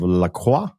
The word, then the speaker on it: Lacroix: The book follows Eloise, and since she's in Paris, is it the French pronunciation of La Croix? Ah bah oui. Eloise Lacroix, c'est ça.